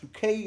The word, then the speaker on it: Bucket: She insisted that to any Tom, Dick or Harry that it was pronounced Bouquet, as we know.